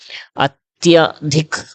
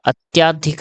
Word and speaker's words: अत्यधिक: ठीक है, चलिए अभी देखो, अत्यधिक, अत्य प्लस अधिक हो जाएगा, अत्याधिक नहीं होता, अत्यधिक होता है।